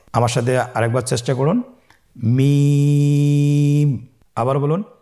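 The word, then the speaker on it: ميم: মিম হরফটি উচ্চারণের ক্ষেত্রে অবশ্যই বারিক হবে, পাতলা হবে এবং তিন আলিফ টেনে উচ্চারণ করতে হবে। আমার সাথে আরেকবার চেষ্টা করুন। মিম। আবার বলুন মিম।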